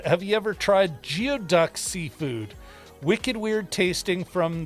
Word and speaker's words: geoduck: have you ever tried geoduck Seafood Wicked weird tasting from the pnw uh pronounced guy duck guy duck I I have not